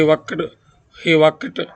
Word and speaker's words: worked: Later, he worked very hard. Here, I am pronouncing the word worked. The verb ending with K must be pronounced with T.